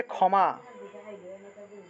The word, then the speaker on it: ক্ষমা: যে ক্ষমা আছে ক্ষমা বাংলায় তো আমরা ক্ষমা বলে থাকি কিন্তু সংস্কৃত উচ্চারণ কি হবে ক্ষে এর পরিবর্তে উচ্চারণ হবে তাহলে ক যোগ মূর্ধন্যস ক্ষি এর পরিবর্তে ক যোগ মূর্ধন্যস দিলাম তারপরে ম যোগ আকার তাহলে উচ্চারণটা হবে ক্ষ্যামা ক্ষামা এইভাবে ক যোগ মূর্ধন্যস সাথে ম আকার ক্ষামা উচ্চারণ হবে ক্ষমা কেমন তারপরে তাহলে